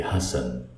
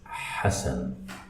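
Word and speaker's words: حسن: And for the people who don't speak Arabic, they say Hassan. It starts with the letter Ha. So it's Hassan.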